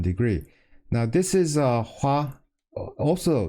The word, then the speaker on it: 화: to a certain degree now this is a Hua also pronounced Hua in Korean but this also is